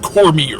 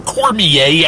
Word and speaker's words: Cormier: the Chocolate War by Robert Cormier, or Cormier, I've heard it pronounced both ways.